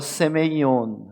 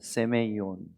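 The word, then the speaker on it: σημεῖον: 이것을 표적이라고 하는 겁니다 단어는 헬라어로 세메이온 합니다 세메이온 한번 따라해 보겠어요 세메이온 발음이 좀 어렵지만 한 번 더 합니다 세메이온 세메 이온이란이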